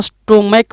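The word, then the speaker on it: stomach: इस समय इस सी एच का जो उच्चारण होता है ना वो क से होता है। जैसे इसको हम बोलना चाहें तो स्टोमैक बोलेंगे, च नहीं बोलेंगे। इसको बोलना चाहें तो इपोक बोलेंगे, इपोच नहीं बोलेंगे।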